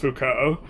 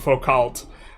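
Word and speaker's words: Foucault: Um and this like I just remember like uh uh I was like, "Oh, it's actually pronounced Fuko." Cuz he was telling me about focal.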